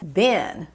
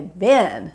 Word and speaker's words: been: o past participle é been cuidado com a pronúncia porque não é be é Ben B com sonzinho bem de i é feijão ou ainda aquele personagem